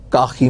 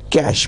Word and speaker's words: cache: cache memory people used to call it as kaki memory CACI memory but now the world see a CAG has settled its pronunciation and it is called cache memory be careful it's spelling is ca CH